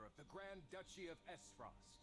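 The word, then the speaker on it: Aesfrost: the grand duchy of s frost s frost okay that's how we pronounce that not what i called it the a is silent hear my words the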